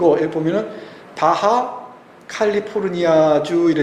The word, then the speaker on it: 바하 캘리포니아: 그것 은 미국식 발음 입니다 . 여기 보시면 바하 캘리포니아 라고 써 있죠 ?